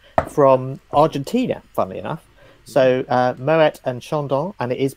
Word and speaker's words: Moët: So Moët and Chandon, and it is Moët, that's the correct way to pronounce it, apparently.